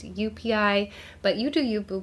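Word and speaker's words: joepii: people like to say joei but the J is actually pronounced more like a y so it's UPI but you do you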